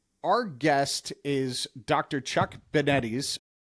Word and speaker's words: DeBettignies: Chuck Benettes. Rhymes with spaghetti.